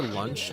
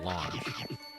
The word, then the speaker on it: Launch: I've heard both pronunciations, Trey, so I call her lunch just because I've heard more people refer to her as such, but I know it's spelled launch. I think it's like the Japanese saying or something. Like that's how they say it in Japanese. I've just grown accustomed to saying lunch though, instead of launch.